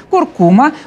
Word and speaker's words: куркума: Куркума, ударение в этом слове именно такое, неблагозвучное, вообще в последнее время стало одним из ЗОЖ-трендов.